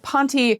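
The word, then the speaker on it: ponte: These are the ultra stretch ponty super widelegg pants. I think ponty is how you say that word. P O N T E.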